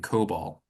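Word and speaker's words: COBOL: was written decades ago using Cobalt I believe that's how I pronounce capital c o b o l which is a coding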